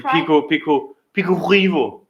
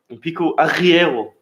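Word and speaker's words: Pico Arieiro: The Pico Rivo. Pico Arriero. That's how they say it.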